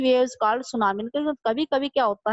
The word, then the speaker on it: tsunami: मतलब जो सुनामी है ना, इसके अंदर टी है वो साइलेंट है, और वो कहते हैं